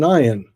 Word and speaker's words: ayin: And how do you pronounce an ayin? Well, when I took my Hebrew class, I was told that most Hebrew speakers don't know how to pronounce the ayin. It's a silent letter, unless you learned Hebrew, or your Hebrew sounds from Arabic.